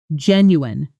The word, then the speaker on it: genuine: The tricky part is the ending, which looks like it should sound like you-een or you-en, based on spelling, but actually collapses into a quick un, slowly.